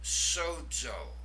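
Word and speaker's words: σῴζω: The word for I save, sozo. Now you'll notice there with the omega, we have an iota subscript under the omega. It doesn't affect the pronunciation.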